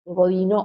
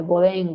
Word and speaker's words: Bodin: teoría de la soberanía de Bodino o de Boudin, como ustedes lo quieran pronunciar, que aparece en el siglo